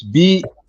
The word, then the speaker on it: Belaire: That's Spell it. yeah, that's The city in California? no, it's BELAIRE.